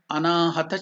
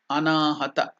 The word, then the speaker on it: anahata: the chakra is anahat chakra can you please pronounce it anahat chakra at the heart region is called anahata chakra anahata this the four chakra heart chakra then where